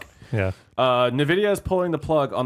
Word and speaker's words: Nvidia: oh there's an eye he's not in the video Nvidia Nvidia okay I always said in the video but yeah Nvidia no no I think you're right I just that's just how I always pronounce it an idiot idea so